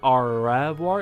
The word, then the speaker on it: au revoir: It's like au revoir. Instead of going like au revoir, it's au revoir. You know, as like instead of pronouncing the R, they like put it on their tongue and then throw it out.